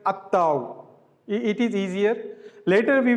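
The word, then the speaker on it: التاء: If the definite article prefix to the word which starts with sun letter, then lam will not be pronounced. We leave lam, we directly join alif with the letter ta.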